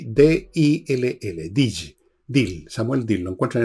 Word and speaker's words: Dill: conocido, pero que yo siempre he recomendado, Samuel Dill. Se escribe Samuel, como Samuel, y D-I-L-L, Dill, Samuel Dill, lo encuentran en Amazon, sobre